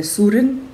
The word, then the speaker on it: Søren: Eu sei que escreve Søren, eu falo Søren, mas é Søren, e o Kierkegaard. Eu vou deixar aqui, aparecendo aqui, como o livro apresenta a pronúncia correta, Kierkegaard.